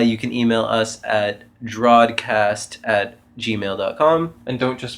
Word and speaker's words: drawedCAST: o d it's right it's drao as in like the past tense of draw if the past tense of draw wasn't Drew or drawn drawn or Drew yeah it could be